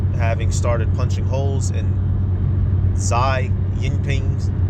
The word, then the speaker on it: Xi Jinping: started punching holes in Xi Jinping's, that's how you say his name, Jinping, resurgent narrative after the country abandoned its draconian zero-C policy.